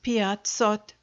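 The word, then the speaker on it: пятьсот: in the same way to 500 which is piazzot 600 is sheaest sought and the other hundreds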